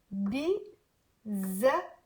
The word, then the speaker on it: بيزهق: بيزهق. There is a double H but not a H. No, normally H like hotel but like a stronger one. It's like you're saying hotel. Hi. Okay, so بيزهق and in the end you do the okay.